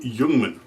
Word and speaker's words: Ljungman: this is an ag42 yungman I know it spelled a little weird but y's how it's pronounced I don't speak Swedish